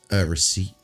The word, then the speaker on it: receipt: Receipt.